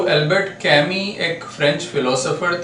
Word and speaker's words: Camus: तो ये जो एल्बर्ट कैमी थे, हालांकि इनका प्रोनाउंसिएशन कैमी है, लेकिन इनका नाम आप देखें यहाँ पर, आप देख सकते हैं CAMUS। तो MUS, लेकिन इनका जो प्रोनाउंसिएशन है वो कैमी, इस तरह से हम करते हैं।